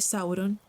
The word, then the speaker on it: Sauron: Y la primera sílaba de Sauron es como en el inglés sour, no sour.